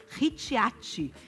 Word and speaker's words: Ricciati: @ Renata Ricciati. Tá? Essa é a pronúncia _Nutri.